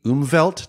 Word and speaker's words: Umwelt: If time itself isn't necessarily a sense, there is this vast sensory realm that you and others refer to as the Umwelt.